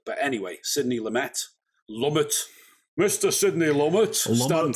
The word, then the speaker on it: Lumet: it's lumet so hopefully we're saying it right um i always think lumay sounds nicer though you know it's like yeah continental it's softer isn't it it's got that more sort of francophile uh pronunciation but anyway sydney lumet